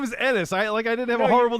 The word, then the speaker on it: Ennis: The Ennis doctor has a was lot from. of bad things I can think of. Ennis rhymes with penis. Ennis, like It's not Enos like everyone like used to Ennis.